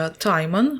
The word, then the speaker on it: Timon: Так, до речі, Тімон читається правильно Timon. So, Timon.